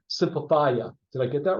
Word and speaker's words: Simplifya: You do have a tech company, POS system called Simplifya. Did I get that right? Yeah, it's Simplifya.